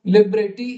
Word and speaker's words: libretti: So 13 मध्ये libretto is pronounced libretto, libretti is libretti, libretti, concerto is concerto, and concerti is concerti, right?